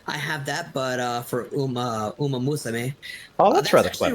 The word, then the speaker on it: Uma Musume: Chakrazier would basically be better at the pronunciation. Is it Uma Musume? Uma Musume, yeah.